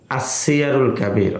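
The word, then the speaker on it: السير الكبير: ওলামায়ে কেরাম বলেন আসসিয়ারুল কাবির শব্দের সঠিক উচ্চারণটা হবে আসসিয়ারুল কাবির। অর্থাৎ আসসিয়ার সুরতে আলিফ লাম থাকবে।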